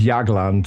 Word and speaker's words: Jagland: Yeah, it's pronounced Yagland. Jagland.